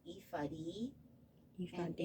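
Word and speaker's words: ephod: like this and that's something it is actually pronounced ifadi you found it it's a linen apron worn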